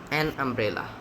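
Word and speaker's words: umbrella: এটার অ্যান্সার হবে এন, আমব্রেলা। I need N আমব্রেলা। আচ্ছা, এখন কেন আমব্রেলা হলো সেটা হচ্ছে, ইউ এর উচ্চারণটা দেখো। এই ওয়ার্ডের ইউ এর উচ্চারণ আয়ের মতো। কিসের মতো? আয়ের মতো।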